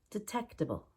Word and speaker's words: detectable: garage detectable detectable or tect is not a word so we make the D really quick detectable defense we pay for